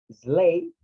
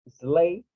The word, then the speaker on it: sleigh: O sea, la G y la H no hacen nada, más que estar en la palabra escrita, pero del sonido no tienen nada que ver.